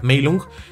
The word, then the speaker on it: Meilong: de hecho Dato curioso long no se pronunciaría long se pronunciaría lung no Entonces sería meung este el dragón dormido que